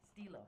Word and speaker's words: STELO: Like STELO. you're stealing O. You're stealing O. Okay. Well, it makes sense the way it's spelled, because there's not two L's, there's one L, so that would be my English background would be STELO.